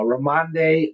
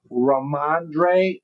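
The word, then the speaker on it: Rhamondre: Uh uh Ramande Ram Stevenson. Did I say it right? Let's see. Raandre Raandre Stevenson says I knew I was pretty close.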